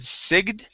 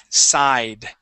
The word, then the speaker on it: sigh: now this word the the G uh the G is actually silent okay you had said Sig okay this is side with a long ey sound side okay and to sigh